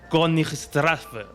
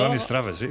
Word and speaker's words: Königstraße: La calle era el número 13 de la Königstraße. Oye, pues no te ha quedado mal, a ver. Ahí está, es un nombre complicado. Königstraße, sí.